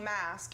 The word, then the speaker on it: Masque: name is Michelle Masque, M-A-S-Q-U-E. I didn't pronounce that right the first time? It doesn't matter. It's like short for masquerade when you think about it.